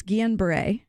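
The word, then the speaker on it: Guillain-Barré: to you because I fear butchering both the pronunciation and also what it means it's unusual and so it's Guillen Bray yeah if you see the word - aid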